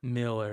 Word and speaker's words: Millar: Oh, and then is Pete is Is this pronounced Millar? Miller? Miller. Do we know? I don't know. That Millar thing is so weird. It's Miller.